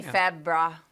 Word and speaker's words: February: February. February. Everyone says February, but where's that extra R go? February. February. February. I just say Febra. We're saving that R in case we need it.